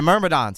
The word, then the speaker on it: Myrmidons: How's that said phonetically? Myrmidons. Yeah, Myrmidons.